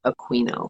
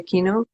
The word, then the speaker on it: Aquino: your last name aquino think of a queen how hard can it be i am not latina i'm actually it's italian which is why it's pronounced aquino i appreciate it when people say aquino but it's incorrect because we're like like